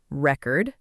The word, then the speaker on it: record: Try these three words out loud. record, object, and contract, first as nouns. Now, say them again as verbs. Record, object, contract. Did you feel the stress move?